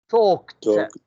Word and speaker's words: talked: You say, I talked. talked. ED كأنها مكتوبة T. I talked to him.